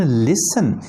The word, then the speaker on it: listen: They often लिसन. इन the same way लिसन में LISTEN टी लिखा जा रहा है लेकिन प्रोनाउंस नहीं किया जा रहा.